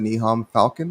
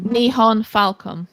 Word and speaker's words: Nihon Falcom: Nihon, how do you pronounce it? Nihon Falcon? Nihon Falcom.